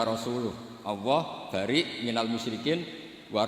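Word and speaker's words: رسوله: Allah itu terbebas, gak urusan dengan orang musyrik, wa rasulih juga gak ngurus Rasulnya. Kalau sama Rasul saja tidak ngurus, apalagi sama kita. Terus sama Sayyidina Ali dibenarkan, yang benar bacanya itu wa rasuluh.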